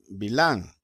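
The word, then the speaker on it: בלעם: a la reina valera pero en hebreo su nombre pro se pronuncia milán milán era de arán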